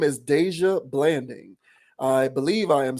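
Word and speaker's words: Dajua: her real name is Deja Blanding I believe I am saying that right she spells it D AJ UA but that seems like deja is how you would pronounce that uh but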